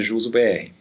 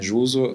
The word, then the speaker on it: Juzo: A Juso se escreve assim, Juzo, é do dono, o nome do dono, né? O primeiro nome é Julius, o sobrenome é Zorn. Então, daí Julius Zorn juntou para Juso.